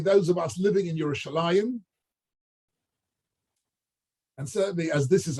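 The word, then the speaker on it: ירושלים: But actually, in the Torah, when we get to Yerushalayim, it's spelled Yerushalem, right? It's pronounced Yerushalayim always.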